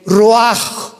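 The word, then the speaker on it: רוח: El roaj, que la palabra hebrea para espíritu.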